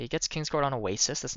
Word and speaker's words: Oasis: So now you can just fill this deck with more king scors and more oasises.